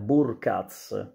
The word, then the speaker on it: Burkardt: giocatore sto parlando di jonathan burgas nella pronuncia tedesca così viene viene viene